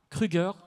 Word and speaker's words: Kruger: C'est Rosa Kruger. Alors Kruger, dites-le maintenant, comment est-ce qu'on le prononce réellement? C'est très bien, mais c'est Kruger.